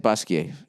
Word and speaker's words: Basquiat: Basquiat / Basquiat, is that how you say it? Basquiat. Yeah. I've learned that with my French studies. You don't pronounce the T unless there's an E after it.